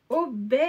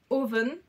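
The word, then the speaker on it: Овен: modèle 1296 de chez obé alors attendez j'ai su que je le disais mal voilà en fait ça se prononce oben en je ne sais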